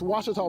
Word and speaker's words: Ouachita: Ouachita Ouachita How would you pronounce it? Ouachita Ouachita It's Ouachita Baptist University. Get it right. It's Ouachita, people.